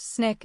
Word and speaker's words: SNCC: Out of that conference, the Student Non-Violent Coordinating Committee, SNC, pronounced Snick, is born.